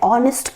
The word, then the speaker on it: honest: h are consonant and h is silent so the actual sound is a fall o like an ah an honor or an honest person in all the